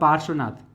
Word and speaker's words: पार्श्वनाथ: अब यहां ध्यान रखना है, ये रेफ है ना, पार, रेफ लग रहा है यहाँ, लेकिन इसका उच्चारण कहाँ करना है आपको, यहाँ पर, इसलिए र यहाँ लग जाएगा।